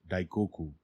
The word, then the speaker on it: Daikoku: a mythological hero kuninushi this name of the character which is written in chinese ideograms is pronounced daikoku the powerful weapon wielded